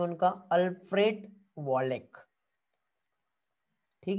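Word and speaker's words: Wallace: नाम है उनका, अल्फ्रेड वॉलेक। ठीक है, चार्ल्स डार्विन एंड अल्फ्रेड जो है वॉलेक, कुछ लोग वॉलेस भी पढ़ते हैं, आपको जो अच्छा लगता है पढ़ो, मैं तो वॉलेक ही इसको प्रोनाउंस करता हूँ।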